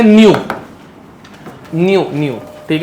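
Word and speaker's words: ν: न्यू न्यू ठीक है। न्यू को प्रोनाउंस किया जाता है ऐसा न्यू एन इ यू मतलब स्पेलेल एन इ you spelling with new ठीक है डिफाइन करूं इट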